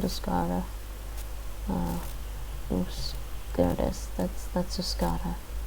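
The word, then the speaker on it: Euskara: I think it's called Uskara. In its own language, it's called Uskara.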